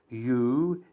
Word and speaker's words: ewe: This consonant, letter W, is not pronounced, so it's like a semi-vowel, but in spelling it remains a consonant. The words are O, O-W-E, U, E-W-E, or, A-W-E, law, L-A-W, and few, F-E-W.